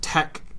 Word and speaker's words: TeX: spelling pronunciation so it's because Tau Epsilon Chi right which are Greek letters is what tech is spelled as and they're kind